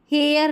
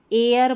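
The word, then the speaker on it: heir: इसको हेयर नहीं एयर पढ़ेंगे।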